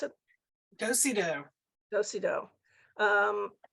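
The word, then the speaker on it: dos-à-dos: this was a Dosa dos is that he pronounce it dosido dosido um dosey doe book so it you open it and then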